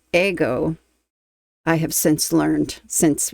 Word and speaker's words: Ego: Today, I am going ahead and reacting to the official video of Ego by The Warning and I believe it's pronounced in Spanish Ego.